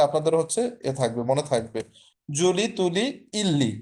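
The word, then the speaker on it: je lis: Problem প্রথমে হচ্ছে জো লি। ওযে ফরাসিতে আমরা হচ্ছে বেশিরভাগ ক্ষেত্রে দেখবেন শেষের যে বর্ণটা থাকে ওটা উচ্চারণ হয় না এখানে লিজ হবে না যলি মানে হচ্ছে আই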